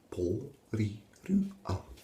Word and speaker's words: Porirua: Po, ri, ru, a. Po, ri, ru, a. Pretty easy, eh? Po, ri, ru, a. Porirua. Porirua. Porirua. Porirua. Porirua. Just remember, tara. That's how you roll your R.